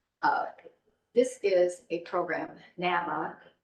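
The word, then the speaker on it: NAMI: this is a program Nama is how they say it it's a support group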